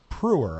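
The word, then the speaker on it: Preuher: This is a guy, his name is Nick Pruer, I think it's pronounced. P-R-E-U-H-E-R.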